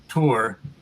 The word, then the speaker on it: Thor: my father's father whose first name believe it or not was thor although they pronounced it tour emigrated from the west